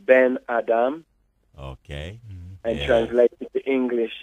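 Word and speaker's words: בן אדם: means son of man yes ebru in Hebrews pronounced been Adam ok and translated to English its son of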